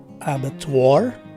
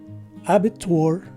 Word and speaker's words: abattoir: So the three options to say this word are abattoir, abattoir, or abitur.